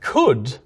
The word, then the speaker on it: could: the L's in but could never actually had the L in the first place we just added that